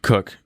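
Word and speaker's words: Koch: is inspirational stuff so jim cook spelled like coke uh he he started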